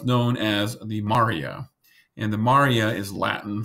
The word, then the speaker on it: maria: crater type areas so this is pronounced as Maurya and not Maria the lighter portion of